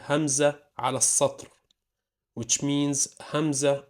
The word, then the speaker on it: همزة: Hamza is pronounced ah, like a short sound coming from the throat. Ah, ah. Now it's either alone, like so, and this way it's gonna be called Hamza ala satr, which means Hamza on the line.